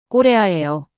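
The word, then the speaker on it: Korea: 꼬레아예요. 발음이 완전히 똑같습니다.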